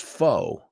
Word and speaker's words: faux: fake or false and that word is a French word and that's pronounced foe foe foe hmm corre